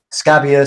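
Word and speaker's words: Scabbia: them that much yeah christina scabia yeah you pronounce it scabia scabia thank you she's she sang on the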